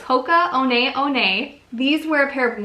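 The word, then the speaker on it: Hoka One One: contacted us and told us that it's actually pronounced Hoka owned aione instead of polka one one so its Hoka owned aione these were a pair of women's Hocus and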